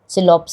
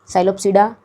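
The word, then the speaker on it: psilopsida: classes of pteridophytes आता है हमारा सिलोप्स, पी साइलेंट सिलोप्स, लकोप्सिडा एंड सिफोनप्सिडा और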